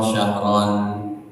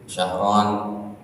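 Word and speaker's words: شهرا: sisi Allah isna asar syahron ada 12 bulan Kalau bacanya tidak dalam salat boleh ya, Pak. Enggak diwakafin syahron kan harusnya syahro gitu. Kalau dalam salat baru harus bertajwid.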